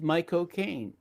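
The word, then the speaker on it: McConaughey: Yeah, it was a movie with my cocaine. You know, he said the best way to pronounce his name is to say my cocaine but fast.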